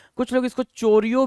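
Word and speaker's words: choreographer: चाहिए उनको क्या बोलते हैं उनको बोलते हैं कोरियोग्राफर ये सारे लोग क्या है भाई ये सारे के सारे लोग कोरियोग्राफर क्या है कोरियोग्राफर है तो कोरियोग्राफर याद रखेंगे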